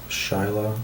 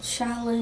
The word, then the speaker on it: Shaolin: Shila. Shaolin. How do you spell that?